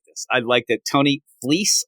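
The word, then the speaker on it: Tony Fleecs: Tony Fleece, I hear, is how you pronounce it.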